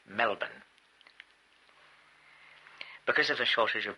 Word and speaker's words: Melbourne: I learned to that you don't pronounce Melbourne Melbourne but Melbourne.